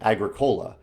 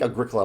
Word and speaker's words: Agricola: that in my mind, I always pronounced it Agricola, rhymes with rock and rolla.